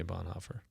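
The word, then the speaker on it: Bonhoeffer: what is it Bon there's another way to pronounce it boner is boner maybe is the more boner the official German way to say it any yeah sorry go ahead no that's right most people say Bon hoofer but you listen uh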